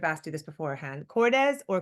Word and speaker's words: Cordes: so now you tell me the pronunciation I should have asked you this beforehand Cordes or cordz Cordes Cordis yeah okay Cordes is a Brooklyn new